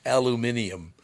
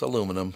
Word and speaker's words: aluminum: aluminium and aluminium yeah they put an extra I in there that's right aluminium no it's aluminum but that's okay anyway